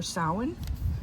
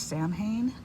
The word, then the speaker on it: Samhain: So this 2-page spread here is going to be for Samhain, what other people pronounce as Samhain, because that's how it's spelled, Samhain.